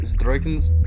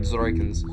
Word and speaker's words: Dzroikans: And the Zdroikans are really, one second, whenever I pronounce it Zdroikans, really, I'm saying Dzroikans. DZ, not ZD. I'm just not used to making that sound.